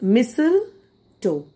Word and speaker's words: mistletoe: it's silent okay uh t is silent it is missile toe it is a partial